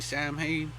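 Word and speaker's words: Samhain: know Halloween AKA s s just spell it's pronounced that way but it's really Sam hay AK Sam hay is is pronoun is spelled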